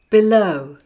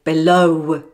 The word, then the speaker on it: below: and last of all there are words with the letter were at the end of the word but the word sound is silent for example saw rainbow now below and window don't say below window saw so normally speaking do not sound the wor at the end of the word unless it is followed by